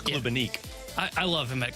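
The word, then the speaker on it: Klubnik: Is that how you pronounce it? It's Klubenik.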